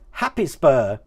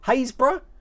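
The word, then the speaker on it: Happisburgh: bit further south than that there we go happy spur there happiest bird that's actually pronounced hey haysbruh hey hayes bruh something like that it is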